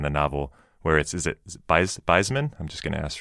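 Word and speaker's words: Beizmenne: And then there's this thing, it's kind of early in the novel where is it Beitzmann? I'm just going to ask for pronunciation. Beitzmänner.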